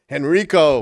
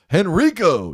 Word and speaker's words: Henrico: You didn't say Henrico, right? I'm I'm not saying it right? No. Henrico. There you go. Henrico. You got to do it like that.